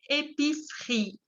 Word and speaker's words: épicerie: Épicerie. Y la segunda E no se pronuncia.